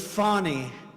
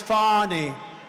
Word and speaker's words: Fani: been destroyed because of Fannie fa N I fan. You have to pronounce it. Fannie, it's called Fannie. You have to pronounce Fanny.